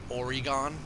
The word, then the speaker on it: Oregon: heard that too before it's like people say oregon or or people say oregon weird it's like it's like if you say it the way it looks it's origami it's like really weird but it's oregon a lot of people